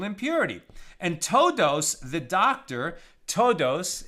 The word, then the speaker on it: Todos: and todos the doctor todos it's spelled like todos right like like everyone in Spanish t-o-d-o-s but todos is actually